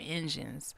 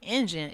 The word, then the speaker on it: Injun: word engine it said engine is an offensive term that is outdated mispronunciation of the word Indian it was originally used in the 17th century to mock or impersonate the supposed heavy accents of Native Americans you know those are